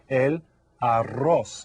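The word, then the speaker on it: el arroz: it is that's rice El Aros and go ahead and say that one because you get to roll your R AR okay there's another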